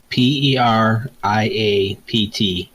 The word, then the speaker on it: periapt: PERIAPT. PER. What? IAPT. Is that the peridot? Like Periapt, yes.